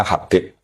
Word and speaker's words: Habib: Itu di harakatnya kitab itu ada yang nulis khubab. L yang benar. Oh, nggih. Yang benar itu bacanya habib.